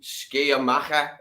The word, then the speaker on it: Sciamma: No, I like unusual films, Frank, then this one, I think it's the Un Film di Saline Sciamaca.